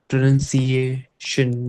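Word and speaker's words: pronunciation: बट अगर आप ये बोल रहे हो, दैट इज प्रोनाउंसिएशन। सी, मतलब पहले आपका ये वाला सी आता है, फिर यहाँ पे आपका ये वाला सी आता है ना, सिएशन, है ना। तो यहाँ पे एप्पल वाला सी है, से वाला एप्पल वाला आएगा। प्रोनाउंसिएशन, जब यहाँ पे कहीं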